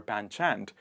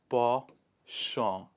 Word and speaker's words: penchant: It is not penchant or panchant. It is penchant. One more time, penchant.